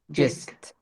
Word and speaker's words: gist: And the gist it's pronounced gist.